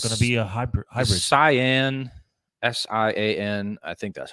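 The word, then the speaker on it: Sián: they're naturally aspirated it's gonna be a hybrid cyan s-i-a-n i think that's how you say it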